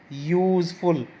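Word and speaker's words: useful: देखिए, अ यूज़फुल animal, यूज़फुल, यहाँ भी वाई का साउंड है।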